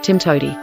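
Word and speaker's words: TMTOWTDI: there's more than one way to do it pronounced Tim toi Pearl has objects but it is more of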